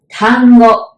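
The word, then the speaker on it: 単語: to know that is Tango almost like Tango that dance tango right but we don't have the T sound it's t and Tango okay now do you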